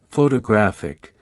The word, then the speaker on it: photographic: For example, in the word photograph, the stress is on the first syllable, while in photographic, the stress shifts to the third syllable.